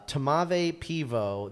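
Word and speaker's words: tmavé pivo: It's it doesn't there's no vowel between it's two consonants first. It's t m a v e and then a peivo. Uh tamave pivo.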